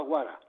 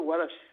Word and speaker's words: guarash: pues no oían el final de la palabra y la contraían, hacían una contracción y quedaba guara. Pero en realidad estaban diciendo guarash. Este wash, que lo pronunciaban de una forma rápida, ¿no? Pues no se oía, no lo oían los castellanos parlantes, y entonces quedó la palabra guara, pero es la misma.